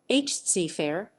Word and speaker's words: Zafar: Emperor Bahadur Shah II, usually referred to by his poetic title, Bahadur Shah Zafar, Persian pronunciation, Bahadur Shah, zæfæ'r, Zafar lit. Victory, was born Mirza Abu